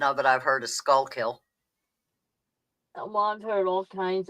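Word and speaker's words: Schuylkill: It's It's pronounced skookill. Skoo kill. Although, I got to tell you, the best pronunciation of it I've heard is skullkill.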